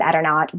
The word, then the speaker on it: Eternaut: and in the end um we went with eternaut which is how I pronounce it um e and and I pronounced it etern not because one of my main arguments for etern